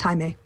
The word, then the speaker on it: Jaime: Jamie, basically. But pronounced Jaime.